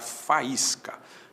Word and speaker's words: faísca: Então, se eu pegar faísca, fa, is, ca, o A para um lado, o I para o outro, esse I está em hiato com a vogal anterior, na mesma sílaba ele tem a companhia do S, existe acento em faísca.